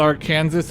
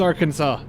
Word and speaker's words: Arkansas: Is that how you pronounce it? Natchitoches? It's Arkansas all over again. It's not Arkansas, it's Arkansas.